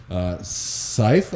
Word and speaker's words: Seuf: So, Seif, I believe is how it's pronounced, but it's SEUF Guitars.